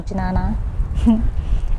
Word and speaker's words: jnana: karma yoga and nana i think it's pronounced nana it's j a in a but i think the j is silence so it's either nana or janana and raja yoga so